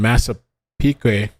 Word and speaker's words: Massapequa: July 14, 2023, police swarm Rex's home in Massapequa, that's how you say it, Park, Long Island.